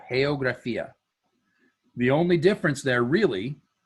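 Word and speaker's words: geografía: a little bit so the first part of the word is heyo and the second part of the word is graphia so geographia the only difference there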